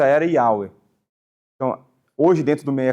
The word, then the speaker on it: Yahweh: provavelmente a pronúncia era Yahweh. Então, hoje, dentro do meio acadêmico, o que se acredita ser a pronúncia mais original é Yahweh, não Jeová.